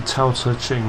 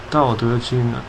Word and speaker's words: Tao Te Ching: Okay, sometimes pronounced the Tao Te Ching, but it's the Tao Te Ching.